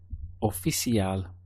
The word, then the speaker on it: oficial: Oficial. We have o, fi, si, al. You see how in Spanish pronunciation of words, we very much get this block section of syllables. So, o, fi, si, al, oficial.